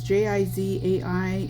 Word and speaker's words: Jizai: demonstration this is the I think it's pronounced jizz I geez I it's ji zai and it's the clear